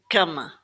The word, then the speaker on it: cama: So, obrigada obrigada cama cama So, we're not hearing obrigada or cama. We're stressing this in the right place, and the A sound is more of an uh at the end.